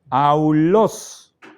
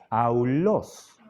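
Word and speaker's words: αὐλός: s tenemos Alfa yon ejemplo del primer diptongo aulos flauta se pronuncia y a la derecha tenemos Cómo sonaría en español aulos y segundo ejemplo ees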